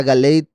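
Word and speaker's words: גלעד: yacob cara lo galid Ahora aquí cambia la pronunciación de gilad a galid porque está apareciendo al final del verso y normalmente cuando una palabra aparece al final le cambian ahí la punto vocal pero aquí se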